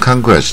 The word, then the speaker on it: conquest: 然后 Conquest 就是征服了啊，征